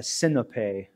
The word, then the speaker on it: Sinope: will work until the Battle of Sinope, Sinope, the Greek pronunciation.